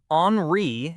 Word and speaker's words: Henri: Henri is how my name is pronounced. H E N R I is how it is spelled. It's a French name.